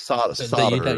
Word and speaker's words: solder: Yeah, it's solder. You say solder. Yeah, and I thought, but it's with a silent L.